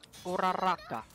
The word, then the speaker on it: Uraraka: Did I pronounce that right? Yeah, Ochako. Uraraka.